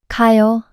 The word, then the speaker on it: 가요: 가, Here, is repeated. So, to make it shorter and smoother, we omit one and pronounce it like this. 가요, Next, in the case